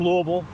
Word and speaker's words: Louisville: Means we're getting close to Louisville. Yes, it's pronounced Louisville. L U V A L.